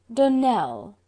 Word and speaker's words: Donnel: Donnel, accent on the last syllable, and St.